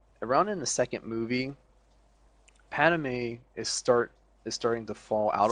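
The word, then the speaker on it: Padmé: Padme, close enough. Padme? What is it? Padme. Padme. My bad. I threw in an extra A.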